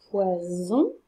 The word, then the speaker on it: poison: Est-ce que vous préférez manger du poison? Je prononce bien Z, car à gauche du S, il y a la voyelle I, et à droite du S, il y a la voyelle O.